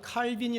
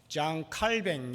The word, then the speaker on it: 칼빈: 종교 개혁자 인데 어 프랑스 말 요즘은 그렇게 많이 부릅니다 뭐 장 칼뱅 이라고 이렇게 많이 부르는데 얘기 카이린 영어식 발음이 죠이 칼빈 의대 소리가 잘 알